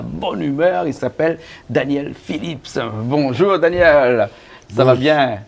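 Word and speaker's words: Philips: On prononce bien le S, Phillips.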